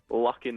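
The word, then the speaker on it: Lockein: Lock in the Coffin. Lock in the Coffin. Except it's like locking, but it's spelled L-O-C-K-E-I-N.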